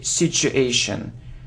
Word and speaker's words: situation: hear situation situation but if you look at the pronunciation the correct translation is the sound sure sure sure so situation situation so you need to say situation ok well done ok